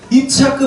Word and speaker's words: 이차크: 이차크 발음을 좀 빨리 해보십시오. 이차크, 이차크, 이차크, 이차크, 이삭, 이삭 이렇게 되지 않습니까?